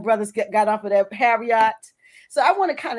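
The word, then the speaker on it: Harriott: calling it Harriet but it's it's spelled h-a-r-r-i-o-t-t but it's Harriet that's what they were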